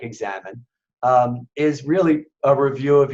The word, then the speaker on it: examen: or the examine it's it's spelled e^x a.m. he and from the Spanish it's Amin it sounds like examen is really a review